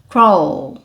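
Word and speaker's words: crawl: sometimes have to CW Olha a língua levantando no L pessoal craw craw through craw through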